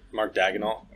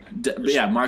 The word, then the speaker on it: Daigneault: I can't even pronounce his name. You got it right. Mark Daigneault. Mark Daigneault.